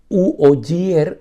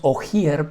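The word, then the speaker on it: Oggier: María Cristina o no se pronuncia en italiano u oyer e italiano en español diríamos ojier porque el apellido es o g de gato y ere de Rosa o no y María Cristina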